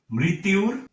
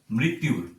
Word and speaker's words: মৃত্যুর: সেক্ষেত্রে এটির সম্পূর্ণ উচ্চারণ হবে মৃত্যুর। মৃতুর মৃত্যুর।